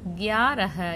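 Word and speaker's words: ग्यारह: 11 கியாரஹ. இந்த காக்கு பார்த்தீங்கன்னா ஒரு லைன் இல்லை, ஸோ பாதியாக தான் சொல்லணும். இக் யா கியாரஹ.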